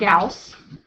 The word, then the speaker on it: Gauss: Okay, so yesterday we learned about Gauss. Remember Gauss rhymes with mouse?